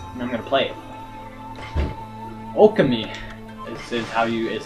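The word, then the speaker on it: Ōkami: Okami is how you say it.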